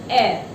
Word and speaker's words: air: Again dear children, there is one word air. It's not here. Here होता है HAIR.